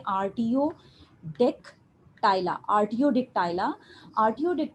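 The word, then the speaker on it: Artiodactyla: पास आर्ट डिक्टा इला इसको हम प्रोनाउंस कैसे करेंगे RTO deck टायला RTO Dick टायला आर्टियो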